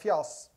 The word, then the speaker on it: FIAAS: And if you're Norwegian, you would pronounce that FIAAS. And that basically is silliness.